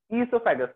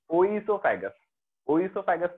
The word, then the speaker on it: oesophagus: उसी तरीके से इसोफेगस किससे स्टार्ट होता है, ओ से, बट प्रोनाउंसिएशन देखो तो क्या है, इसोफेगस, ना ना कि ओइसोफेगस नहीं है वो, इसोफेगस। तो इसोफेगस ओ से स्टार्ट हो रहा है, साइलेंट है वो, बेसिकली प्रोनाउंसिएशन में ई आ रहा है।